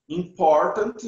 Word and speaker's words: important: Você só tem que saber a pronúncia. Important. Ou então, important. Porque eles não falam T no final.